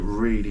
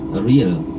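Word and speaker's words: riel: The currency, the Cambodian currency is real. It's spelled R-I-E-L.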